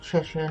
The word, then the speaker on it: Cheshire: And to all you Americans out there, it is pronounced Cheshire, not Cheshire.